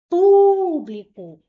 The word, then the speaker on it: público: Qual é a sílaba mais forte? público.